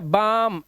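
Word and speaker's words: balm: इसी तरह से एम से पहले आएगा तो भी साइलेंट है, जैसे काम, एम से पहले आया बाम, एम से पहले आया तो पाम, पाम मैंने हथेली, देखो यहाँ पर।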